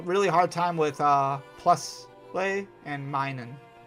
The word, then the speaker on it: Plusle: hard time with uh plusle and minun. Until somebody explained to me the plus and minus thing. And I was like, oh, that makes total sense.